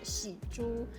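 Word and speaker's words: 蜘蛛: on pan because uh spider in chinese can be pronounced as shi ju so when we say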